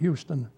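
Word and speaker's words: Euxton: And that was spelled E-U-X-T-O-N, but they pronounced it Euston.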